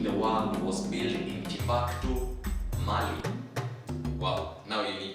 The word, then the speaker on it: Timbuktu: I pronounce it as Timbuktu, you can pronounce it as Timbuktu, you know, it is how you pronounce it, but it is Timbuktu, Mali.